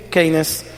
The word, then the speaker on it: Keynes: ¿Cómo se pronuncia, David? ¿Sí? Keynes.